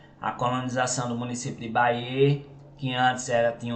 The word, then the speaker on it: Bayeux: trânsito bem mais tranquilo baer né se pronuncia desse jeito Bê não é ba ux é Baê é um município do